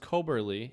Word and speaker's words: Koeberle: So this woman named, and I'm pretty sure it's pronounced Koberly.